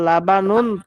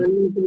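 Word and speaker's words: لَبَنٌ: হাজার লাবানুন তাজাজুন, আপনি তো আঞ্চলিক আরবিটা ছাড়েন, আমি যেভাবে বলছি সেভাবে বলেন। হাদা লাবানুন তাজাজুন বলেন তো, আমারটা শুনে হাযা শুনে বলেন। লেবানুন তাজাজুন, লেবানন না, লাবানুন, লাবান আইয়ো উচ্চারণ।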